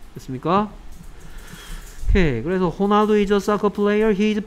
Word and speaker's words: Ronaldo: 그래서 이 R은 동네에 따라서 스페인어에서는 H 같은 발음을 냅니다. 됐습니까? 오케이. 그래서 호날두 is a soccer player.